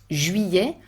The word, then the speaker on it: juillet: Et l'été continue en juillet, août, both are complicated to pronounce, juillet with the closed U, the French U, Y sound, and open E. Juillet, août, written with a